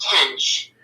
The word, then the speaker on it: Tench: His name is James Tench. Okay, I pronounced it wrong then. It's James Tench, folks. Do you have his ID number with you? It's TENCH.